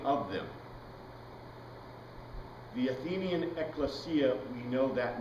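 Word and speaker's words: ἐκκλησία: in any case elesia Ecclesia eklesia that's classical Greek pronunciation it is a calling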